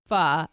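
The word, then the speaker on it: phở: for dinner every night for the rest of your life what would it be going to go with f from from Vietnam a lot of Americans say fo but it's actually said f yes so one of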